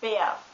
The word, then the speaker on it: Bär: The German word for bear, by the way, is Bär, which is pronounced B-A-R.